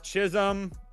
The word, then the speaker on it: Chisholm: Jazz Chisholm to record a hit at -130. How do I spell it? Is that an S? Whatever. Jazzchich. IS? It's not IL, bro. It's Chisholm.